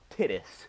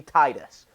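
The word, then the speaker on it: Tidus: You play as Tittis, whose name is mispronounced, and I will die on that hill. It should be Titus, but Tittis, um, his name kind of sounds like Titties.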